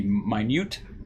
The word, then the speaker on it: minute: is expected to be minute as opposed to minute this is minute even though it's spelled the same way it is minut not minute uh small few microns